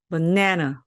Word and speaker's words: banana: 발음 소리가 나는데 마찬가지로 이때의 A도 강세를 받지 못하기 때문에 힘이 없어요. 그래서 다시 소리가 나서 버네너 이렇게 됩니다. 약간 이상하죠, 여러분? 들을 때도 분명히 영어는 이렇지 않았는데 그렇습니다. 강세를 내는 곳에 아주 힘을 몰아줘야 됩니다. 보세요. banana, banana. 굉장히 강한 것은 강하고 약한 것은 약하게 해야지만 리듬이 생깁니다. 그래서 우리가 알고 있는 바나나 이것을 영어로 banana 이렇게 발음하시면 됩니다.